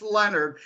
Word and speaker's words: Lenard: it looks like Leonard but it's not it's pronounced Leonard and my little on most social media platforms